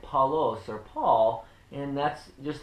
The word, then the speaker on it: Paulos: would have been the biblical greek would be pronounced transliterated more so as paulos p-a-u-l-o-s and in the latin it would be